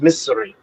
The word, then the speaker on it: Missouri: Again, you're saying it in lazy English. It's pronounced misery.